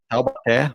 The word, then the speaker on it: Taubaté: So we're in Taubaté, Brazil, but it's easy to say the Paraíba Valley.